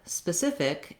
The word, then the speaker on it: specific: in the word specific the second syllable is stressed so the sith syllable has the stress that's here in these